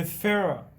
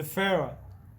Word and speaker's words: Führer: So they started calling him as the Führer, okay? The Führer.